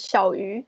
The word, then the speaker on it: Hsiao-Yu: my name is my chinese name is xiaoyu and in chinese share the same pronunciation as little fish so that's why i